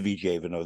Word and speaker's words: Vigevano: I've been to Vigevano. That's why I pronounced it correctly.